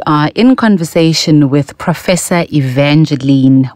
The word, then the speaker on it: Evangeline: about the name Evangeline because it was not pronounced correctly people would say Evangeline and when you grew to know what that it's actually Evangeline and how melodic and how beautiful it sounds